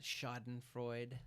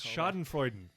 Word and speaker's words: Schadenfreude: Yes, Schadenfreude, right? Schadenfreude. Yeah. Did I add an extra syllable? You might have added Schadenfreude. I tend to do that. I think it is Schadenfreude. I could Schadenfreude. be wrong, but yeah.